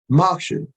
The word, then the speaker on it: moksha: But anyway, moksha, that's how I'm pronouncing it. It's M-O-K-S-H-A. It's on your screen. Look it up.